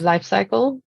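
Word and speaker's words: Life Cykel: Well, there's a really good brand if you want something that tastes like nothing called Life Cycle. Life Cycle, okay. And cycle is spelled CYKEL.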